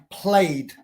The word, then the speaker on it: played: Ed any other letter any other letter in the English alphabet before e d we don't pronounce the E for example played in El pasado play